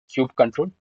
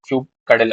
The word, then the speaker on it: kubectl: Okay, here you can pronounce the what we can say kubectl command as kube control or else the kubectl also.